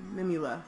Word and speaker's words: Mimula: And this is supposedly the correct pronunciation of her name, Mimula.